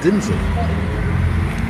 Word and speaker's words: Denzel: from his father said his name was denzel it's pronounced denzel he's like shut up